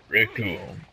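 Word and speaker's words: Recoome: And the ugly alien himself, Rikuum. Cause it rhymes with doom.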